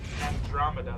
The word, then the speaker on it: Andromeda: Andromeda, that's how you pronounce it.